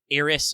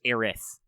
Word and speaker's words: Aerith: Japanese also uses that sound syllable to represent what in English is TH.